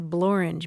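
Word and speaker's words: Blorenge: Hill in southeast Wales it's called the bluring b l o r e n g e I was so excited you know word that rhymes with orange yes yes the blor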